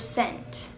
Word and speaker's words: scent: Anyways, is the S or the C silent in the word scent? C is silent, that's the most easiest thing ever.